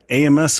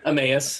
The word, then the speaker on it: Emmaus: In some of the stories that we've talked about, the road to Amos, or how do you guys pronounce it? Emmaus.